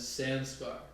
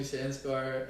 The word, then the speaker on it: Sanskar: my entire life i've introduced my name as sanskar that's how you introduce yourself spelled s-a-n-s-k-a-r and every white person will pronounce that as sanskar right i come here